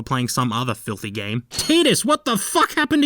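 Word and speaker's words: Tidus: I know it makes more sense for it to be Titus, what with all the aquatic stuff the game throws at you, but they pronounce it as Titus in Dissidia, so I'm going with that.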